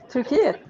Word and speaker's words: Turkiet: How do they really pronounce turkey? Turkiet.